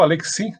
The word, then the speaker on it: Alexy: do robert alexy robert alexy da silva 945 ou aleksi né depende de quem vai falar tem uma pronúncia diferente ele é um dos